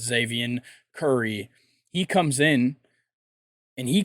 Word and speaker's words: Xzavion: But they bring in a younger starting pitcher in I believe it's Xavier Curry. It's spelled XZAVION. I believe that's Xavier Curry.